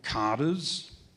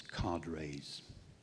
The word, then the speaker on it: cadres: In many parts of China, local cadres, some pronounce this as cadres, local cadres or Communist